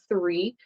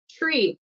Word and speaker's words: three: even speak English but when there's a t and an r a phenomenon that will happen is it'll be pronounced a and a r sound Tre so three tree tree three tree three tree sorry tree three three tree there are three trees good so I'm hoping that